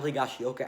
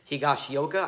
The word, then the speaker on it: Higashioka: His name's a freaking tongue twister, but Higashioka, I'm pretty sure that's how you say his name, but, he was a lot better at the plate than Gary Sanchez was.